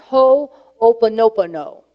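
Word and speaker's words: Hoʻoponopono: or two weeks of talks few years ago ho opono pono that is a hawaiian term ho you may spear pronounced ho opa-nopano okay it's got a lot of opal nobody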